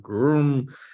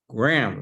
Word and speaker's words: Graham: Yes, and everybody, Graham is one syllable. A lot of people are break his name up into Graham or Groom. It's Graham, like the cookie.